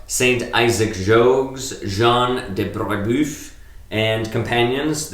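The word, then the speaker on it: Brébeuf: So yesterday, the Monday the 19th, was the feast of Saint Isaac Jogues, Jean de Brebeuf, and companions. I don't know if I'm pronouncing that right. It's Brebeuf. Brebeuf.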